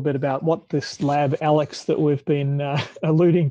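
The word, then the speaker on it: AiLECS: enforcement and community safety we pronounce it alex there's a lot of different ways that people try to pronounce it alex ilex supposed to be alex according to us but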